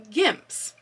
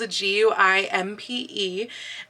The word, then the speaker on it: Guimpe: And I may not be pronouncing this word correctly. As you can see, this is how it's spelled, Guimpe, and it's French. And I don't speak French, so I've heard that it may actually be pronounced guimpe in the French, but most customers tend to call it a gimp.